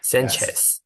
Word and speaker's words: Sanchez: Sanchez. Yeah, it's Spanish. Miss Sanchez. Mhm. Then And actually, this is not pronounced miss.